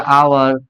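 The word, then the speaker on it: hour: और 1 घंटे, तो एक का क्या हो गया, आवर, और आवर में H silent and storm one, तो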